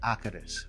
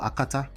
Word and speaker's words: akata: way it's not pronounced academics okay it's called akata that's in remy there's a tone to it okay it's called akatas